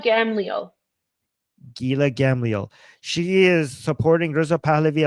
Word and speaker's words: Gila Gamliel: I always Gila mispronounce her Gila name. Gamliel. Gila Gamliel.